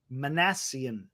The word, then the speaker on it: Minasian: Zack manassian I said it wrong earlier it's manassian I want to make sure I get that